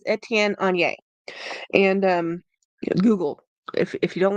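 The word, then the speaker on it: Étienne Aigner: I looked up the pronunciation. It is Etienne on Yay.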